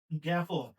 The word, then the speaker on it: জ্ঞাপন: বর্গীয় জ আর ইও, কিন্তু এটার উচ্চারণের ক্ষেত্রে লিখতে হয় গ এর সাথে জ ফলা, মানে গ্যা, গ্যা বলি আমরা। তাইলে এখানে আমরা কি লিখবো? এখানে আমরা লিখবো জ্ঞাপন, গয়জা ফলা আকার।